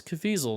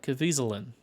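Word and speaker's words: Caviezel: like a local name you say it's cafizal not cavisilen let's get a local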